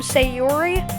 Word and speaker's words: Sayori: say this right now I'm pronouncing her name say Yuri and her name natsuki so if you guys